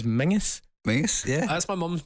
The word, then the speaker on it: Menzies: and for all those outside of Scotland as well, for some inexplicable reason, we pronounce the word Menzies as Mingus.